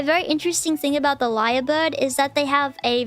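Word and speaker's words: lyrebird: better photo of the liar bird it's not it's not um actually spelled like l i a r it's spelled l y r e and um these guys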